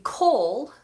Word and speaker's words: call: Black English before okay the difference in pronunciation between call I'll call you and coal that you burn on a fire or for a barbecue call has that long or Val and coal Oh Oh is a diphthong call Coll Coll Coll